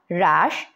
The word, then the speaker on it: হ্রাস: আসবে আর এটাতে হচ্ছে হ এর সাথে যদি র ফলা যুক্ত হয় তাহলে কিন্তু সেটা সরাসরি র উচ্চারিত হবে যেমন রদ এটাকে হ্রদ বলবো না হ এর ভাব এটাতে আসবে না এটা সরাসরি রদ বলবো রেশা বলবো হ্রাস বলবো হস বলবো তাহলে কি বলবো রদ রেশা রাস রস্য গত ক্লাসে আমরা উপস্থাপনা নিয়ে অনেক